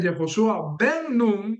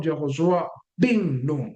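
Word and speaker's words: Jehoshua bin Nun: Y bueno, eh esa es la razón por la cual eh no se dice Jehoshua Ben sino Jehoshua Binum.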